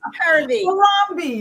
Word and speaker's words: Harambee: It's Harambee.